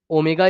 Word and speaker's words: ω: ओमेगा इज़ any number.